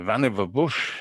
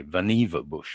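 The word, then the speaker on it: Vannevar Bush: but it was supposed to include mathematics and Van Bush uh imagined uh mimics uh in 1945 what's amusing to me is that Claude Shannon the graduate student apparently worked for Van sorry Vana bush is how you were supposed to pronounce it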